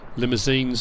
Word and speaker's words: Limousin: only got sellers and limousines i said someone's corrected me essentially limousine because you say as they are in french i'm not french so i'll just say it like that um water trough is